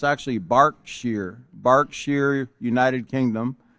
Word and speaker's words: Berkshire: I had to look it up because I wasn't even sure how to pronounce that, but it's actually Berkshire, United Kingdom.